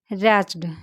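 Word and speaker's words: wretched: Next day अगले दिन द man told the servant that कि ही वाज़ सो ही वाज़ सो रैच्ड। यहां W silent है।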